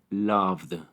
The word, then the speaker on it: loved: Recordemos que tomamos en cuenta el último sonido, en este caso, v, ya que la letra E no se pronuncia. Igual que en el verbo anterior, toca tu garganta cuando haces el sonido v, v. Se siente vibración. Por lo tanto, el verbo en pasado se pronuncia loved, loved.